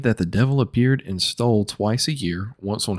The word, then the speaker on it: Stull: It is a cemetery, and it's called Stoll Cemetery. That's spelled Stull.